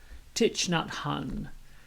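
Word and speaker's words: Thich Nhat Hanh: i kept messing up so here it is titch nut hun and i think for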